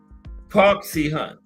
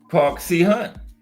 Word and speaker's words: Park Si-hun: Roy Jones and Park Si-hun. Park Si-hun. That's right. Yeah, the Korean guy. You can't butcher that, right? E-A-R-K. Little 8-year-old granddaughter could pronounce this. S-I-H-U-N. Right? Park Si-hun.